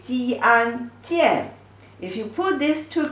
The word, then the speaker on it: 见: The pronunciation is 鸡安见.